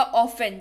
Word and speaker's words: often: Spelling इसकी OFTEN है, लेकिन उच्चारण के वक्त T जो है वो साइलेंट हो जाएगा और ये हो जाएगा ऑफन, जिसका अर्थ होता है अक्सर।